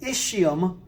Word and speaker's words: ischium: rounded part would be called the ischium isch ium also called the ischial bone